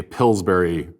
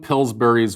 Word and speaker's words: Pillsbury: Pillsbury pills pills pill pillsberry because you say b r y is pronounced Berry so it's like pillsberry yes it does if